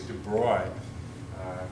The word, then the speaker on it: de Broglie: broglie to me but i think it's de bruyne it's french he was just a